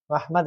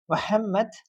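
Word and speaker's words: محمد: ജ അല്ലെങ്ക ഗ അടുത്തതാണ് ഹ ഹ മുഹമ്മദ് മുഹമ്മദ് മുഹമ്മദ് അല്ല മുഹമ്മദ് അതാണ് ഹ ഓക്കേ ആ ഹാ ആണ്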